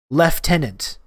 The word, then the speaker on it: lieutenant: words and the pronunciation they pronounce it lieutenant lieutenant lieutenant that was my [